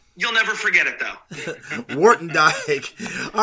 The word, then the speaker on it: Woertendyke: word you died we'll never forget it though Wharton Dyke all right thanks for coming on so much